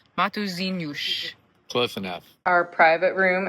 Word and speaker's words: Matosinhos: The tourism center has a stamp, and we asked them how to pronounce the name, and it's Matosinhos.